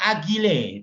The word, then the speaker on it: agile: Ini loh, sistem yang agile tulisannya. Bacanya agile.